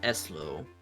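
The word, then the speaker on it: Ezlo: name is eslo eslo it should pronounced eslo it's a pleasure to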